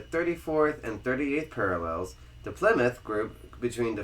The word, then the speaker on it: Plymouth: said Plymouth you said pouth again pouth again Plymouth it's Plymouth plim PL plim like flim plim you got a lot of flim in your voice PL pth Plymouth there you go I said